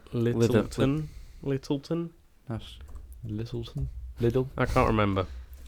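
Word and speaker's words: Lyttelton: Yeah, the Littleton. Is it? If you're pronouncing it Littleton. It Littleton. is Littleton.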